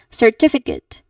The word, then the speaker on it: certificate: So, here uh you should stress the second syllable. Tiff. The tiff. So you should say the certificate.